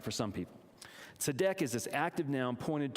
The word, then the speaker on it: tzedek: The old one is called tzedek, T-Z-E-D-E-K, tzedek.